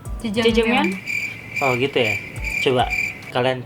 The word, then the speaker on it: Jajangmyeon: Bacanya yang benar berarti gimana? Jajangmyeon.